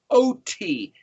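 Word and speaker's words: אות: In English, that's, I'm talking about myself, but in Hebrew, the word is Aleph Vav Tav Yod, pronounced O-T, Aleph Vav Tav, an oath, a sign, a symbol, a letter of the alphabet.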